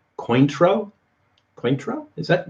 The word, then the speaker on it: Cointreau: Oh, that's how you pronounce it, Cointreau.